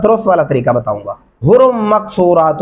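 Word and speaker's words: حُورٌ مَّقْصُورَاتٌ: والا طریقہ بتاؤں گا۔ حرم مقصورات، میں نے دیکھا ہے پڑھتے ہوئے اکثر لوگوں کو حرم نہیں پڑھنا، حرم مقصورات فی الخیام۔ حرم غنہ بھی کریں گے، رمق قاف کے اوپر قلقلہ بھی کریں گے، صاد پڑھیں گے، سین نہیں پڑھنا، را کو موٹا پڑھیں گے، ٹھیک ہے۔ حرم مقصورات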